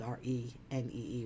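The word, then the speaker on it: Renée: My name is pronounced Renee, R-E-N-A, but it's spelled R-E-N-E-E with an accent on it, but it's pronounced Renee, okay?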